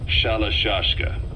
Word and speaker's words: Shalashka: By the time I got to hearing about it, pronunciation had wound up as Shalashka.